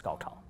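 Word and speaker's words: 高考: Compared to previous year's Gaokao.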